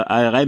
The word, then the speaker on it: ARM: pas ARM mais ARM, comme pour bras quoi. En anglais, donc c'était pour dire ça, je sais pas pourquoi, je sais plus où j'avais dit ça, mais enfin c'est, je dis pas ARM mais ARM.